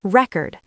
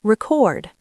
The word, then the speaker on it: record: Take the word record. As a noun, the stress is on the first syllable, record. As a verb, the stress is on the second syllable, record.